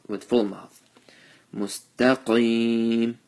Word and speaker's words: مستقيم: Mustaqim, qaf with the full mouth, and ya sakin with the zer before it. Since we're stopping here, stretch it for 2 to 3 alifs.